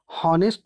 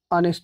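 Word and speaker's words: honest: ठीक है, लेकिन जब इसको हम पढ़ते हैं तो हॉनेस्ट नहीं कहते, ऑनेस्ट कहते हैं, यानी फर्स्ट लेटर कॉन्सोनेंट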